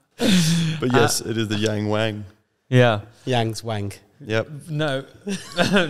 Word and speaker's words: Yangwang: of China called yangu is that definitely their pronunciation is it don't look at me but yes it is the Yang Wang yeah Yang's Wang yep no no it's just